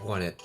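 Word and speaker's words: Onett: just love it uh oh net or sorry won it I'm so I'm used to calling it on that I know it's mispronouncing I'm mispronouncing it but won it um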